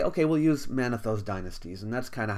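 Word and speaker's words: Manetho: by the name of manatho monaetho some people say my teacher always said mana though but now i'm seeing manatho may be the right way to say it but anyway he lived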